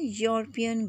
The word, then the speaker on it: European: But E is silent here and U is producing its own sound like consonant sound, not vowel sound. It is producing the sound of U.